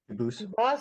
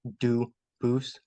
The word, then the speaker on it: Dubus: I know a family with that the same exact spelling in American. They do pronounce it dubis, but you said you pronounce it dubus as the original. Duboose as the original French. Yep.